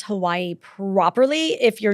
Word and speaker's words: Hawaii: to say it is Hawaii. Hawaii. Yes. The W, so it's pronounced, there are two different ways to pronounce W. If W is in the middle of a word, it's a V.